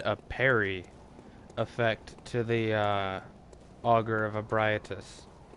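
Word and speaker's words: Augur of Ebrietas: And it's really neat because they added a parry effect to the Augur of Abriatus. Which, unfortunately, is how that name is supposed to be pronounced.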